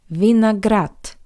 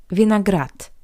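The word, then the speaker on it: виноград: How you could hear the voiced consonant d at the end of this word also sounds like the paired voiceless consonant t. Vineagrat. Vineagrat.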